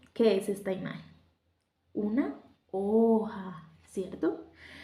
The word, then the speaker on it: hoja: Una hoja, ¿cierto? Y hoja será ¿cómo? ¿Con H o sin H? Muy bien, ¿cierto? Esta aplica para lo que hablamos anteriormente, ¿cierto? Hoja lleva H, que aunque no suene esta letra, sí estamos formando una sílaba.